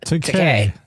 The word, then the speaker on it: Takei: But when they did the Wrath of Khan, and they got Tim Roth and George, is it Takai or Takei? I forgot. Takei. It rhymes with gay.